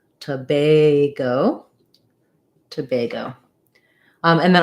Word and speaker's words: Tobago: syllable stress letter a even though it looks like the word bag it's going to be pronounced with the a diphthong so it's going to sound like tobay go to bago um and